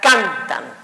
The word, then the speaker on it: cantan: La siguiente palabra sería cantan. Cantan. Suena en can, pero terminó en N.